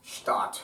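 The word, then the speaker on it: Stadt: The German word for city, spelled in Hebrew, Shin tight Aleph Dalet tight. Special tools and definitive techniques. Pronounced Stat.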